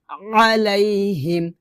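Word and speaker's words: عليهم: এখানে কিন্তু আছে আইনতো আইনের জায়গায় আপনি হামজা উচ্চারণ করতে পারবেন না আপনাকে আইন উচ্চারণ করতে হবে এভাবে আমি আবার বলিলানা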